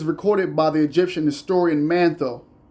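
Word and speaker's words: Manetho: This is recorded by the Egyptian historian Mantho. I'm a follower and a student of manthos spelled m a ne t h o.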